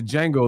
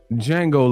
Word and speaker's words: Django: the propaganda nigga list django list yeah we back to the django list the d is silent this is the d